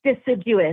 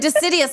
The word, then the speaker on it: deciduous: I think it's deciduous. Deciduous. Thank you. I thought I was saying it wrong. I said decidious. I'm like, that's not the word.